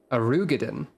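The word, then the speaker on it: Roegadyn: Arugadin.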